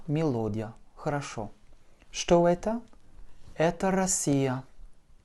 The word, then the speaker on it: Россия: Это Россия. R, O, S, S, I, Я. Avec un accent sur le I et donc le O se prononce comme un A.